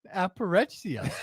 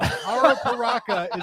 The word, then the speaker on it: Arapiraca: Apparexia. Switch the letters. You completely switched the letters. The word that Billy has just pronounced, I think, Apparecchia. I was going for Appalachia. Appalachia is Arapiraca. Arapiraca is, of course, the